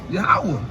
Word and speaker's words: Yahweh: Like when you say Yah, Ha, Wah, it's just that easy. It's just naturally. Like how you can say it like Yahweh. Say it. Yahweh.